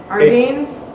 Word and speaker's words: Ardennes: Ardennes? Mr. Jeckovich, it's spelled A-R-D-E-N-N-E-S.